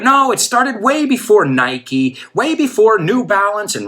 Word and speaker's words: Nike: So this is not like something Nike, que de hecho no lo pronunciamos Nike, we say Nike.